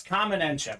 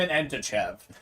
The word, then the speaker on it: Kamen Entchev: at my name Colin it's it's common enchip it looks like it became an end to Chev so uh definitely gotta